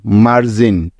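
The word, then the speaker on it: margin: কারণ লক্ষ্য করে দেখো এখানে জি এরপরে আই আছে আর আমরা জানি যে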